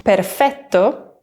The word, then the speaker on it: perfetto: So it's not perfetto, but perfetto, with a nice long double T.